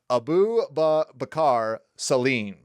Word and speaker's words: Abu Bakar Salim: And I made sure to type out how to pronounce his name because it's a mouthful, but Abu Bakar Salim.